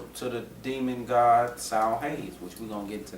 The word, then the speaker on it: Samhain: It says, the ritual we embrace as Halloween was originally called the Feast of the Dead, Samhain, pronounced Samhain, and was on November 1st.